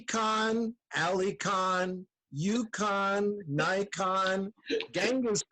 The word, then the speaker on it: Cahan: my last name is khan did you did you say that i i couldn't hear it no i didn't i pronounce it like phonetically and actually um khan